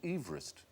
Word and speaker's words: Everest: Mount Everest because he didn't pronounce his name Everest he pronounced it Everest Everest Everest it should be M George Everest